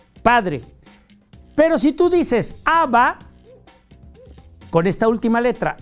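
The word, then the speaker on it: אב: Y mucha gente cree que es aba, ¿no? Padre en hebreo es ab. La a y la b hasta ahí. A, padre. Pero si tú dices aba, con esta última letra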